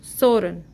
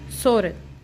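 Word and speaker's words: 서른: कैसे लिखते हैं हाउ we write how we pronounce so let's see सो 30 सोरन एस ई ओ एल एल आर की sound देगा then E यू एन सोरन 30 I just repeat S ई ओ एल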